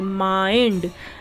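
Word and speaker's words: mind: एनडी है तो आई को आ ई पढ़ेंगे माइंड एम आई एंडडी माइंड क्लियर हुई ये चीज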